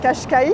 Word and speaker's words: Cascais: Et j'hésite avec Cashkaï qui s'écrit Cascaï. C'est J'y vais en bus aussi. Donc je pense que je vais aller à Cashkaich.